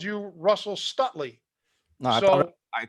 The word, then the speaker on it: Stutely: See, now we've learned absolutely Stutely. But yeah, if you get your name mispronounced by Nico, it's a principle. The E softens the T.